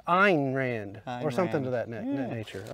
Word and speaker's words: Ayn Rand: A.Y.N. Rand. I actually looked it up earlier because, you know, the joke. But I can't remember how it's Russian. It's Ayn Rand or something to that nature.